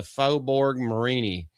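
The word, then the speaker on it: Faubourg Marigny: at Arbar in the Fobborg Marini. Yes, that is how you or for Marini. That's how you pronounce that. It's cinjun French, guys. You're going to have to get used to it.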